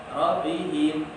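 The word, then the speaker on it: رَبِّهِمْ: Rabbihim. Hubbu. Kalau ada yang membacanya masih lembek, powernya tidak ada, wataba, rabbihim, hubbu, itu berarti belum, harus kuat ya. Rabbihim, watabba, hubbu, harus kuat.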